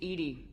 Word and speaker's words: EDI: why are you named Ed Ed is the phonetic pronunciation of Eed that is an acronym for enhanced defense intelligence where are your location